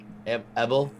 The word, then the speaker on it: Ebel: Is that how you say it? Evil Glass? Ebel. Ebel.